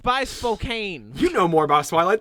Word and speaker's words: Spokane: It's by Spokane. You know more about Twilight than I do. And it's also not pronounced Spokane. It's pronounced Spokane.